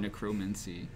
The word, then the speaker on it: necromancy: Or Necromancy. Yeah. No, it's necromancy. Yeah, it's probably just necromancy. Yeah, it's necromancy. Fuck you, Greg. The emphasis is on the first syllable.